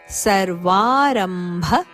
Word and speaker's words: ಸರ್ವಾರಂಭ: ಒತ್ತು ಗತವ್ಯತಹ ಸರ್ವಾರಂಭ ಪರಿತ್ಯಾಗಿ ಸರ್ವಾರಂಭ ರಂಭ ಮಹಾಪ್ರಾಣ ಭ ಪರಿ ಪರಿತ್ಯಾಗಿ ಪರಿತ್ಯಾಗಿ ರಿಯ